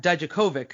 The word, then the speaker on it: Dijakovic: sasha banks you've got dijk dijkovic is the proper pronunciation at this point flip